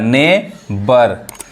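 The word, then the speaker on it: neighbour: यहां पे क्या है जी एच क्या है साइलेंट है साइलेंट व मैं आपको पढ़ाऊंगा आने वाले वीडियो में साइलेंट वर्ड क्या होते हैं कहां पे कौन वर्ड साइलेंट होता है जैसे यहां पे क्या है जीच साइलेंट है यानी जीएच नहीं पढ़ा रहा है नेबर समझ में आ रहा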